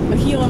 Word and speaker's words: Gila: this whole endeavor is Gila Monster. It's Gila. But okay. Are you correcting me on your own assigned moniker? If you're gonna call me a Gila Monster, then say it correctly. G's not silent.